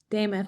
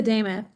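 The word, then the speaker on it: Demuth: I'm going to mispronounce her last name. Could you help me with that? Lisa Dameth. Dameth, Lisa Dameth.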